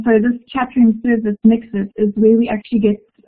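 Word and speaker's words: Mxit: I just saw someone asked what is it called, and it's Mixit, it's spelled M-X-I-T, and it was a platform developed in South Africa specifically to address low-end feature phones and cheap messaging.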